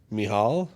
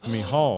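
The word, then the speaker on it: Michal: The CH is the same sound that Hanukkah is, the CH of Hanukkah. So, ha, and then AL. Mihal. Mihal.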